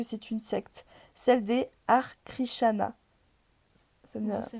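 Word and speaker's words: Hare Krishna: Sauf qu'une fois sur place, je me rends compte que c'est une secte, celle des Arkrishana. Ça me dit moi ça me dit rien. Ar krishana, ça s'écrit H a r e plus loin.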